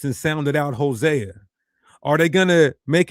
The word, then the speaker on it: Hosea: That's Osea or Hosea. Hosea There's no I sound at all.